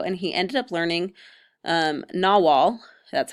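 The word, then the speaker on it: Nahuatl: now call Mexico and he ended up learning Nawal that's how you pronounce that word and he helped establish the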